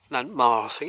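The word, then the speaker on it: Nantmawr: of nan more then ma Nant mouthing is how you pronounce it and it's wonderful though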